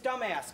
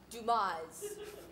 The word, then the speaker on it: Dumas: hoping you'd say that Mrs dumbass good to see you it's pronounced Dumas oopsie my bad is